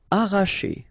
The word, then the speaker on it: arracher: Arracher. Okay, don't pronounce the double R, sorry, it's just like if you would have only one. Arracher.